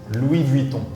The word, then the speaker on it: Louis Vuitton: Louis Vuitton. Louis sounds- Vuitton. S is silent in the French. So Listen, S at the end of a word is usually silent, and on is so.